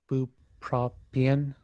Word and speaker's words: bupropion: So this comic is the Escape from Bupropion.